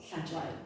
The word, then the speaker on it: Hlatshwayo: Hlatshwayo.